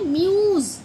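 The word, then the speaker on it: muse: एस ई इसे बोलते हैं क्या बोलते हैं म्यूस म्यूज बोलते हैं म्यूस और इसका मतलब पता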